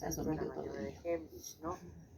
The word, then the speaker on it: Heimlich: De Heinlein. Yo de Heinrich.